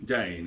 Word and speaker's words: Dane: Starring Edmund, is it Dean? You pronounce it? Dane.